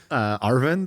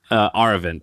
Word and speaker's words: Aravind: I know how you spell it. Arvind, I think is his name. Aravind.